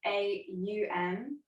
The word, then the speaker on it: Om: sound of on so it's spelt o m but it's pronounced more like the sound a um will inhale through the